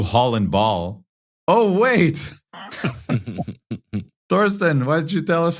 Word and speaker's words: Thorsten: past I said like, think of Thor. And then at Sten, Thorsten. And this week I realized, no, like people know how to pronounce Thomas in English. And it's just that with a different ending.